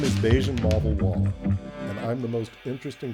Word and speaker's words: Bajun Mavawalla: Beijian Mavala. I did say that right. Yes, you did say it.